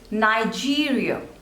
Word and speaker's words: Nigeria: New Zealand next is Nigeria Nigeria so there are three slavers and the stress is on the second one G nigh G real Nigeria Nigeria Nigeria next